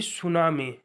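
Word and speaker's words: tsunami: जल्दी से describe TISS describe TISS सुनामी यानी सुनामी डिस्क्राइब सुनामी टी हमारा साइलेंट है य बिल्कुल मत जाइए डिस्क्राइब सुनामी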